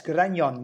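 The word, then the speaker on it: Grañón: That's spelled Granon, and the first N has kind of the little moustache hanging over it. I don't actually know the name of that symbol in Spanish, but yes, Grignon, that's how it's said, and that's in La Rioja.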